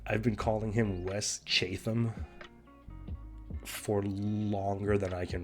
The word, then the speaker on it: Chatham: own name in the podcast hi i'm wes chapman or chatham or chatham i can't remember either way i'm saying his name wrong so thank you no one for making